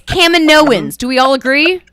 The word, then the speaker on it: Kaminoans: Yeah, and Jake, we know how to say it. It's Kaminoans.